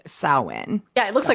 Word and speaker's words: Samhain: the way you pronounce it does not sound like what it looks like at all."